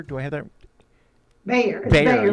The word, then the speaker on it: Bayer: Bayer, yeah, like Bayer, of course.